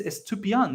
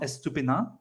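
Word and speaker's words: Estupiñán: today it's to be I'm pretty sure his name is estupian not estupina no I'm not scared I'm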